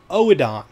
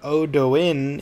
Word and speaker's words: Oedon: Oedon. Okay, it's not Odoin, it's Oedon.